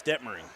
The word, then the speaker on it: Detmering: say something that's incorrect is it Jake detmering yeah it's debt Marine Jake detmering that is correct I did say his